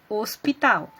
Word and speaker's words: hospital: caso do dia que essa palavra hospital vejam bem quando eu vou falar essa palavra quando eu vou pronunciar eu falo hospital então o h ele é uma letra mas ele não possui um som então ele não é chamado de fonema como também tem um